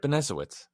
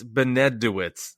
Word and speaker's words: Benesowitz: I said it right, Benesowitz.